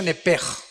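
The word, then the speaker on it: נפש: Apúntala como suena nepesh con sh se pronuncia nepej.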